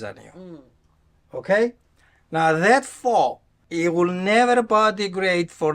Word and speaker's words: faux: Faux. That's what we call, right? F A U X, right? Did I pronounce that properly?